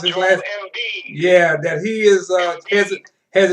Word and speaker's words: Embiid: You was talking about a young man with the 76ers, Joel, how you pronounce his last? Embiid.